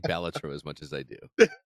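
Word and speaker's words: Balatro: uh local thk accepted the speech and he pronounces it batro wait he actually made an appearance he did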